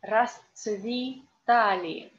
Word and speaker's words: расцветали: laws, we read here и расцветали. Why? Because the accent is here on а, and this е in unstressed position we read like и.